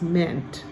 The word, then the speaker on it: meant: In verse 22, there's another EA word, meant. So if I mean something, what does that word mean? We say it like that. But in the past, it's meant, kind of like read and read.